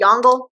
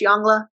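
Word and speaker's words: Yongle: tribute so Emperor yla I know it's spelled jongle if you want to pronounce it that way to help you remember how to spell it's fine I'm pretty sure it's jangla he is going to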